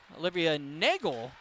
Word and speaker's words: Olivia Nagel: Back down, it'll be Olivia Nagel. I got an official pronunciation on the Norwin senior's name right before the game.